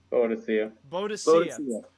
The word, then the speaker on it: Boadicea: How do you pronounce it? Boadicea.